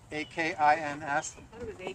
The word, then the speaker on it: Akins: Anybody know the right way to pronounce A-K-I-N-S? Akins.